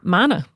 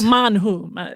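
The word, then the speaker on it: מן הוא: Mana. Yeah. Yeah. It's I remember when my Well, manu but close enough.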